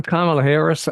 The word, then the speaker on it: Kamala Harris: Did she say, I'm Kamala Harris? Did I hear that? Did yeah, she say that? obviously with the intent of telling him how to pronounce her name.